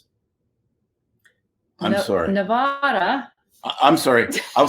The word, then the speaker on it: Nevada: the Nevada Governor um it's Nevada not Nevada okay we gonna it irritates the living hell of people that live here I'm sorry it's not